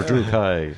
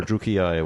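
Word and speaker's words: Druchii: We'll go with Druchi then, or Drukai, or Druki, whichever way you want to pronounce it. Everyone has a slightly different way.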